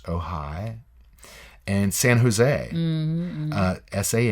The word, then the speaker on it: Ojai: in spanish and also Ojai California but it's spelled oj AI but pronounced oh hi and san jose SI